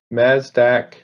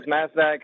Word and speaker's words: Mazdak: have speaker number 43 masdaq garrett sorry uh grav banavas hi can you hear me i can't i'm sorry about your mispronouncing your name that's okay i'm used to it my name is mazdak i'm a community organizer